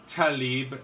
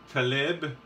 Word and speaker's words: Tlaib: his comments, first off, her name is Rashida Tlaib, not Tlaib. I'm not sure how you're pronouncing that, because when you write something, it doesn't make a sound. So I think it's Tlaib.